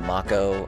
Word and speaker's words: Mako: I was a kid instead of calling it maka I was called it Mako and I heard it called Mach o and dirge of cerberus and I was like no it's Mako you're saying it wrong little did I know I was saying it wrong so that's yuffie Barret